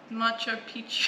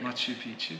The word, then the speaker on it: Machu Picchu: okay Harry wants to go why to hike nacho Peach how do you say it Machu Picchu Machu Picchu there you go yes yeah I'd